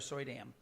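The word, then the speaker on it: Suydam: question about as far as um I cannot pronounce his last name Arthur gu Arthur soy Dam all right thank you um Marvel Zombies yes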